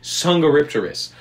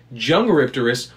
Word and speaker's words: Dsungaripterus: two ways to say sangha ripterus where the d is silent or jung rypterous with a j i